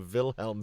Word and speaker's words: Wilhelm: all I love that Dave says it like in its correct Bavarian pronunciation of vilhelm scream well that's what it's